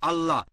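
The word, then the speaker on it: الله: একই ভাবে আমরা জানি সঠিক উচ্চারণটা হচ্ছে আল্লাহ। তারা বলে এলা আমরা বলি আল্লাহ সমস্যা নেই সঠিক উচ্চারণটা হচ্ছে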